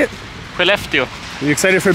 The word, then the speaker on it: Skellefteå: Skellefteå.